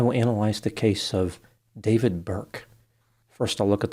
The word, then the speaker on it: D4vd: He used the name D4 V D, which he pronounces as David. I pronounce it as D4 V D because the number four is pronounced four and the I is missing.